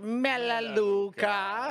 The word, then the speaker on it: Melaleuca: to me about melaleuca first of all we pronounce it melaleuca second of all sounds